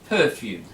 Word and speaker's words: perfume: round the user stairs so we stress the first syllable perfume yeah we don't take